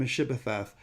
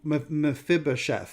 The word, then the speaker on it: Mephibosheth: a grandson of saul named meshebeth who mephibosheth i'm sorry i sometimes mispronounce it who has broken legs